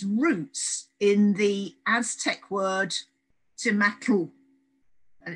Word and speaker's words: tomatl: in the Aztec word tomatl, and it's just been anglicized down to tomato. So we've transferred the tl sound at the end of tomato into an O.